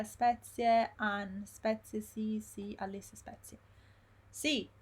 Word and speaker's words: spezie: Bill, spezie, Abida, spezie, Ann, spezie, sì, Alice, spezie. Sì, si scrive con la Z, è come grazie. It's the same sound we saw in grazie, spezie. It's S-P-E-Z-I-E. Spezie.